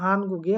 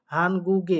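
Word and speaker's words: 한국의: এখন দেখেন এখানে উচ্চারণ করছি হানগুগে, এখানে এই উইটাকে আমরা উচ্চারণ করতেছি এ কারের মতো।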